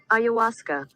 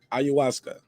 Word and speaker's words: ayahuasca: messed it up again how you say it say it again ayahuasca ayahuasca how do you guys feel